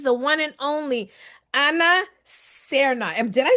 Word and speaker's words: Cerna: So this is the one and only Anna Serna. And did I say that right? Yes, you say it right. Serna.